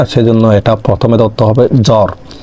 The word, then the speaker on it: জ্বর: এটা প্রথমে দত্ত হবে জ্বর জ্বরে ব আছে সেজন্য বফলা উচ্চারিত হয়নি তার মানে যদি প্রথমে